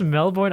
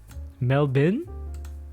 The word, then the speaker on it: Melbourne: insane i'm not pronouncing it's not pronounced melbourne either mel bert what is up with you guys that's crazy oh my goodness mel bin no way no way